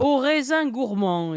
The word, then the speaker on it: Au Raisin Gourmand: I'll let you pronounce it. Le Raisin, something raisin. Au Raisin Gourmand is what it's called.